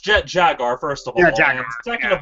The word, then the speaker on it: Jet Jaguar: Jet Jet Jaguar thing is Jet Jaguar it's pronounced Jet Jaguar first of all second of all Jet Jaguar